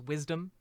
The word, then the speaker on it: WSDM: Director of Stanford's Women and Sex Differences in Medicine, or WSDM, pronounced Wisdom Center.